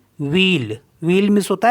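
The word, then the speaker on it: ville: means होता है प्यूप अब इसमें कुछ एक्सेप्शन है जैसे वी I double L ई तो इसको पढ़ते हैं हम व्हील व्हील मीस होता है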